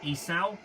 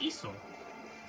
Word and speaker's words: Esau: uh for a while i was calling them jacob and esau but then i went ahead and looked up what the hell the actual pronunciation is supposed to be and now i know it's esau so yeah cool um